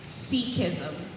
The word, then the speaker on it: Sikhism: Urud is spelled U-R-A-D. Your word is Sikhism.